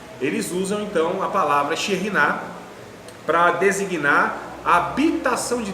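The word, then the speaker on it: Shekhinah: Então diz lá que Shekinah, a pronúncia não é nem Shekinah, é Sherinah.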